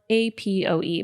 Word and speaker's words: APOE: protein apoe was mentioned it's spelled a p OE but it's usually pronounced apoe does that sound familiar